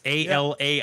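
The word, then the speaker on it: Alaïa: It's Alaia.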